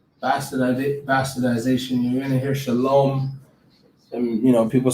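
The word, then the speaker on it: שלום: this all right but you wouldn't pronounce the wha all right it's just shalom so it'd be like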